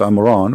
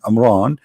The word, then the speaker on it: Imran: became the daughter of Amran which is the father of mooses and Muhammad even pronounce the name wrong because it's a home ROM Imran it is in law